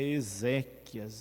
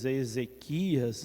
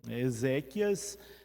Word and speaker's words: exéquias: já ouvimos falar e eu já ouvi muita gente pronunciada e mal de Tá errado essa palavra já viu onde a gente Ezequias né Ezequias é nome de uma pessoa exéquias é uma celebração da